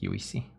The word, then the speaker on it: Juicy: J so I guess juicy um we pronounce j as y so it's more like U see hm that what's your